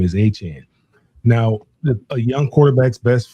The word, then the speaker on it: Etienne: is he he um correct everyone on the pronunciation of his last name. It's Etienne. Okay. Remember that? He He told everybody the correct pronunciation pronunciation of his last name is Etienne.